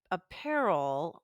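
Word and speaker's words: Aperol: actually important oh yeah I had the apparel or I have no idea if that's the right way to say it but it's a p r o l yeah uh it's an apparati that is very popular apparal I think it's called appol it is appol Spritz yeah and um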